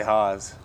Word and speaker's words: Hasz: Luke Hasz. Most of the time. He's mostly Haas.